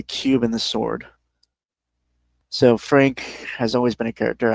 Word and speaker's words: Phranque: Fei were Fei and Frank. For the record, Frank is spelled uh p h r a n q u e.